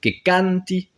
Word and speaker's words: canti: Donc, Kanti, c'est accentué sur le A de Kanti, c'est pas sur la terminaison.